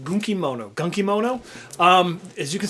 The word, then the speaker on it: Gunkimono: Next, we have uh this game is pronounced Gunkimono.